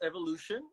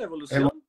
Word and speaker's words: Evoluxion: Bueno, en inglés, Evolution, y en español, Evolución.